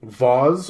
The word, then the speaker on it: vase: ever seen is this it's a baws or a phase depending on how you pronounce it where you can put